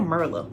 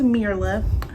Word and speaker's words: Myrla: when it comes merla i kept saying merlot merlimerla and i was watching unfiltered i don't know i was watching something and they said her name and i was like hold on was i saying that girl's name wrong so her name is mirala sorry girl so yeah